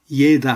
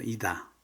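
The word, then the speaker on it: еда: 너굴인데 이노트 그다음이다이다 예다 하면 안 되죠 이다. 그것도 우다니가 아에 있어서 이다라고 합니다.이다 이두이다 이다면 음식입니다.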